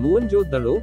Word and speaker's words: मोहनजोदड़ो: में से एक था मोहनजोदड़ो शब्द का सही उच्चारण है मोहनजोदड़ो जिसका सिंधी भाषा में